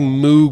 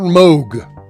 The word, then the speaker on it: Moog: And apparently I'm pronouncing Moog wrong. Now I'm curious. Hold on. Moog. Well, see, that's what happens when you read words and not hear them. All right, fine. Robert Moog. My mistake.